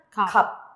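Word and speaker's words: 값: ¿En dónde le doy el sonido? Solamente en la piep. ¿Y cómo suena? Kap. Kap. Se omite la shiot.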